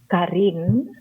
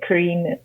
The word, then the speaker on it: Carien: aans is one and if you wanted to say my name correctly you could say Karim but if you are of the englishspeaking community then Karine is absolutely fine yes and I'm happy